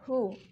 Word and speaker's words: who: Bacanya who ya, jangan who. W-nya dihilangin, kita bacanya who.